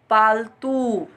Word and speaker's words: पालतू: हमने पढ़ा पालतू, जबकि उच्चारण गलत है। हम कह रहे हैं पालतू, शुद्ध उच्चारण क्या होगा, पालतू। कौन सा ऊ, हर्ष स्वर का ऊ ना लगकर क्या लगेगा, दीर्घ स्वर का ऊ लगेगा। इसी प्रकार से ये सारे